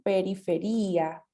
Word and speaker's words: periferia: o su contrario, in periferia, ¿sí? Y recuerden las palabras que terminan en ia con el acento en la i.